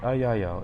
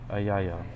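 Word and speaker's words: Eyael: Ayayel. It's spelled E-Y-A-E-L. So Ayayel.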